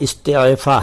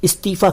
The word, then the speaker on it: इस्तीफा: इस्तीफा, असल में इसका सही उच्चारण जो है वो इस्तीफा है, इस्तीफा। लेकिन इतने मुश्किल उच्चारण को लोग इस्तेमाल नहीं करते, इसलिए इस्तीफा कह दिया जाता है।